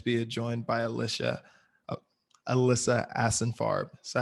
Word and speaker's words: Ashenfarb: so excited to be joined by alicia alyssa asinfarb so how do you say your last name